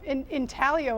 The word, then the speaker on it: intaglio: Oh, intaglio is the way to pronounce intaglio, that.